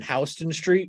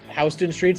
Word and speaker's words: Houston Street: ended up last night in Houston Street which is spelled the same as Houston and I was very